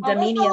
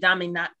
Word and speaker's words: Damiana: Yeah, I suffer with low libido, so I'm using Dominia today. What was the last word? Good job. The one before Damiana is Kalea. Kalea Zakatashishi. Kalea. Oh, I mispronounced it. Damiana?